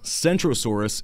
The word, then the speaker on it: Centrosaurus: Kentrosaurus is spoken with a hard K while centrosaurus is pronounced s like C so it's so it